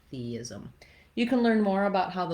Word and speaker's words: theism: Same thing with theism, theis. You'll just naturally make a gliding sound as you're moving from that tense E to the lax I sound, theism.